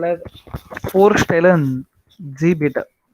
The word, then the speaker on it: Vorstellen: This is Vorstellen. For V is not V, right? V is for.